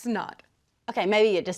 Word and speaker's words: Synod: S-Y-N-O-D Okay, then isn't it pronounced SIN-ODD? It's pronounced SNN-ODD.